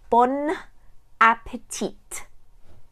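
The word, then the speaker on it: bon appétit: is Bon Appetit and yes you pronounce all the letters you need to say Bon Appetit sounds very strange in English to a French person but that's how you need to say it because if you say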